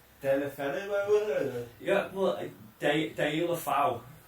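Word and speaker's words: Deulofeu: Yeah, well, Delafeu is how Martinez says to say it, but I think the general pronunciation has just been Delafeu, as you know, that's what they seem to use.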